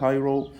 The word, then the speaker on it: Cairo: I live in، والقاهرة اسمها Cairo، ما نقولش على كايرو، اسمها كا مش كا، والآر منطقها رر ساوند، نقول I live in Cairo.